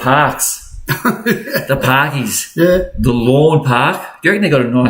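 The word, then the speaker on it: Lorn Park: Yeah, but it's spelt a bit different. Oh. Lawn is L-A-W-N and they're L-O-R-N, lawn.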